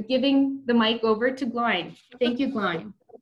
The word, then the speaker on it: Glain: Glain - pronounced like "shine" - is the